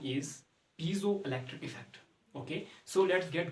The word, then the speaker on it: piezoelectric: Okay, but the proper pronunciation is piezoelectric effect.